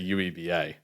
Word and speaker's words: UEBA: Actually, please don't pronounce that acronym. I always make my team say UEIBA. UEeba. I'm sorry. UEBA is so much cooler than Yuba.